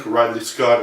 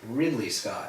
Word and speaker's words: Ridley Scott: a movie I think rley Scott and the whole cast and crew should be proud of who you said rley Scott rley Scott Ridley Scott Ridley Scott you didn't know his name I'm mispronunciation okay well